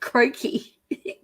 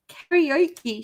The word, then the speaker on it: karaoke: then and then then she starts talking about it croaky cranky which is karaoke she couldn't say karaoke and everybody in her